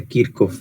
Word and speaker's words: Kirchhoff: lo sientes ya que se pronuncia kirk of verdad pero y aquí coloquialmente siempre dicen kirch entonces mandemos lo así